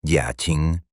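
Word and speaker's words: Jiaqing: Mientras tanto, en la lejana, amurallada y sumamente opulenta ciudad prohibida de Pekín, el todopoderoso emperador de China Jia Qing, pronunciado Jia Ching, recibía los oscuros informes diarios con una creciente e incontrolable ira.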